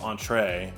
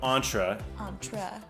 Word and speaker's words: Ontra: ryan solomon of antra which i used to call entree but it is that's not how you pronounce it and so that was